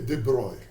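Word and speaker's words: de Broglie: com momento p e a minha pronúncia desse nome que é uma tentativa chegar a pronúncia a Francesa e debroi eu não vou pronunciar de outra maneira Mas H sobre momento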